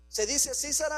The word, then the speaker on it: Sísara: Se dice Císara, hermanos, estoy bien con el acento en la i, ¿verdad, hermana Telma?